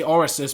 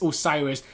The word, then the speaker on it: Osiris: on to the pagi Osiris please tell me got that right yes I did I normally say orsus but it's Osiris this is obviously aani